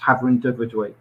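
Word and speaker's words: Hafren Dyfrdwy: have a welsh part of the business and pronounced havren de verduin now this slide here um encapsulates um what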